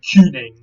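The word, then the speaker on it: cyning: Now, in Old English, this word was spelled this way on your screen and pronounced something like Kuning.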